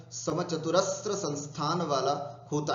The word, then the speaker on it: समचतुरस्र: समचतुरस्र संस्थान, ध्यान से सुनना, इसका उच्चारण ठीक करना है, समचतुरस्र। ये कई लोग समचतुरस्त्र त्र करते हैं, नहीं, समचतुरस्र।